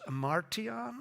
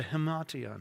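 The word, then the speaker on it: himation: It's a hemation. It's not an ima. It's like an H, hemation.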